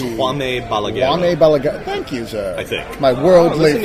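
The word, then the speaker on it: Jaume Balagueró: no idea how to pronounce the name when it's spelled J A U M. I think it's Juan Balag. Juane Balag.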